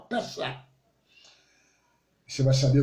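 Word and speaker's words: פסח: A pronúncia, mais ou menos, no hebraico é Pessah, terminando com um CH, como se fosse um K no final, Pessah.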